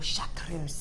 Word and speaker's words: chartreuse: I've got a 50-metre spool here of your chartreuse, and this is a 0.8 of your chartreuse.